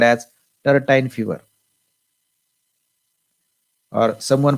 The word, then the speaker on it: tertian: That's why the infection caused by Plasmodium vivax and infection caused by Plasmodium ohel is called as tertine fever, or someone pronounce it as tertian fever. It is tertian fever.